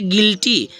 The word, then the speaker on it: guilty: जैसे ने एक और है जैसे गिल्टी, देखो GUILTY गिल, देखो अब यहाँ पर देखो यू के बाद आई आ गया तो यू क्या हो जाएगा, यू हो जाएगा साइलेंट, इसको पढ़ेंगे गिल्टी।